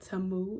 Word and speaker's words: Tamu: and then with the name like tamu it rhymes with shamu and moomoo and all the moves